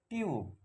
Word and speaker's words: tube: কি আছে কনসোনেন্ট আছে ও ই লেটারটি আছে টিউব টি ইউ বি ই এখানে ইউ আছে ইউ